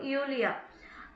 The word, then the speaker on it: Julia: Hello நீனா, hello யூலியா. இங்கே ஜே வந்து வை pronounce பண்ணுவாங்க மோஸ்ட்லி. அதனால ஜூலியா, ஜூலியான்றது யூலியான்னு படிச்சிருக்கோம்.